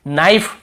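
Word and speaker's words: knife: need यहां पर भी के को नहीं पढ़ेंगे नाइफ यहां पर भी के को नहीं पढ़ेंगे नो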